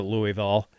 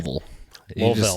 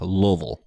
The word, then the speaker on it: Louisville: design in well looko I'm a northerner so I pronounce it Louisville uh but I know it's supposed to be pronounced lville or something like that anyway lville you just just round it off Lille Lille okay I'll try I'll work